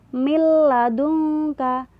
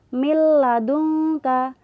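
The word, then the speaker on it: مِن لَّدُنكَ: huruf yang tercetak merah ada huruf nun sukun ketemu dengan lam cara bacanya milladunka maaf ya Ini salah ketik harusnya harokatnya yang belakang itu Fatah bukan kasrah milladunka milladunka paham ya jadi nun sukun nya ini seakan-akan hilang langsung masuk di huruf lam milladunka gitu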